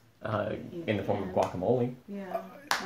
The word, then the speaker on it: guacamole: mean the guacamole M see how I say that in Spanish it's not guacamole it's guacamole mhm I mean not really